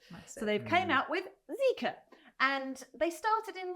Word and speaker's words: Zeekr: But this is Zeekr, Zika. So this is, again, this is from the Chinese Geely group, who also make the Volvo, Polestar, Lotus, etc. So they've came out with Zika.